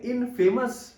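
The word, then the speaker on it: infamous: यू एस क्या बोलेंगे इन फेमस know फेमस हम वहां बोलते हैं यहां चेंज हो जाएगा इनफेमस इन फेमस क्या बोलेंगे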